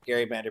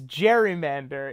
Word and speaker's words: gerrymander: In modern American parlance, it is gerrymander in opposition to the pronunciation of Elbridge Gary's name.